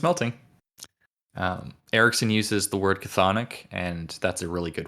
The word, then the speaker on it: chthonic: Well, it's yeah, I'm pretty sure it's pronounced chthonic.